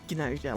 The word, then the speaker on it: GNOSIA: us, so, you know, going with GNOSIA, like GNU, are aliens.